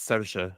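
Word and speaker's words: Saoirse: Sao. It It's It's Sasha. Uh she's It's cuz it's Irish.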